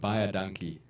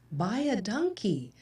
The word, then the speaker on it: baie dankie: baie dankie. Buy a donkey.